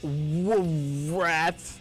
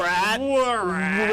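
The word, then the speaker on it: WRAT: It's rat. The W is silent. Rat.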